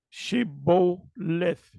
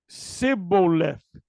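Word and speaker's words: שבולת: Then said they unto him, say now, Shibboleth. And he said, Sibboleth, for he could not frame to pronounce it right.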